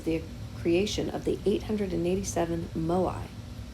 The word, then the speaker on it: moai: achievements one is the creation of the 887 moai mo i is how it's pronounced statues that they built they were probably